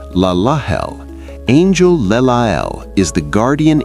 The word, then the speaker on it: Lelahel: Pronounced Laahel.